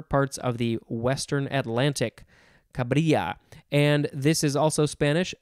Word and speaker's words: cabrilla: Next, we have cabrilla, cabrilla, C-A-B-R-I-L-L-A, similar to caballero with the double L. It's a yuh sound, cabrilla, noun from circa 1839.